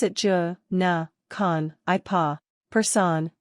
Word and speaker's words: personne: Personne, pronounced personne, means person.